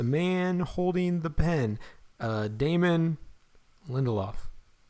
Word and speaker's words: Lindelof: the scenes, a man holding the pen, Damon Lindelof. Lindelof. I gotta say it fast because I can't remember exactly how it's pronounced.